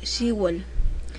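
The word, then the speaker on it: 시월: Cuando di el tema de las fechas, ahí colocamos que se escribe como ship y luego más el wall, que es el mes, shibol. Y también ahí coloqué que la pronunciación es shibol.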